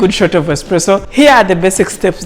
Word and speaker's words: espresso: Espresso, not espresso as some people pronounce it.